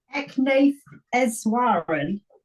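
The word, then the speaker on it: Eknath Easwaran: Eknath Eswaran.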